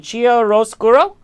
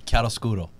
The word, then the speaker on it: chiaroscuro: the set of, please help me with the pronunciation, Chiaroscuro? Oh, close. Wow. But you know, chiaroscuro.